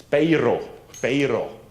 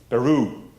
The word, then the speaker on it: Peru: It's Peiro, Peru. That's how they pronounce that in Antwerp. Peru. That's how they pronounce it locally.